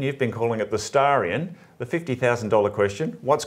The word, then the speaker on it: Starion: people just accept that it's a Japanese pronunciation of stallion as in staran and I think that's